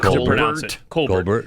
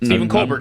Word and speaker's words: Colbert: I actually I appreciated you the other day uh pronouncing it the way he was raised. Colbert Colbert show.